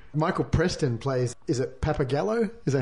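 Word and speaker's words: Pappagallo: think he's great Michael Preston plays is it pepper Gallo is that how you pronounce that sounds good papagallo yeah papagallo delicious on a pizza yeah the artistic leader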